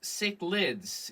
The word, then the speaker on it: cichlids: Pronounced cichlids.